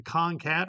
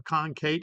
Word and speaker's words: concat: What we need is the concat or concate instructions, depending on where you're from is how you pronounce it.